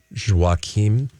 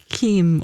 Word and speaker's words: Joaquim: in Portuguese, but Joaquim. Yeah, there is Joachim? a Kim or a Kim at the Yeah, end. Q-U-I-M. So Kim.